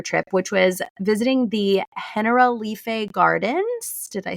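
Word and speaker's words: Generalife: which was visiting the Hen Lee Gardens. Did I say that right? You did. It's spelled like general life, but it's pronounced in Spanish, Henrife.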